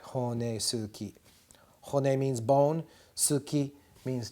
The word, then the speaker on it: honesuki: meat cutting knife, the honesuki. Honesuki. Where I commonly make the mistake is I forget to pronounce this U and I pronounce it honesuki. And my wife says, no, Murray, you mean honesuki.